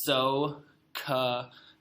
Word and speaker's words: SOHCAHTOA: This is SOHCAHTOA, pronounced SOHCAHTOA.